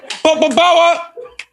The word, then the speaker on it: Popo Bawa: Yeah, Popo Bawa. Where is it? Popo Bawa. Where is it? Popo Bawa. He didn't show up. Where's he coming? Popo Bawa. Exactly. But you know the story of Popo Bawa?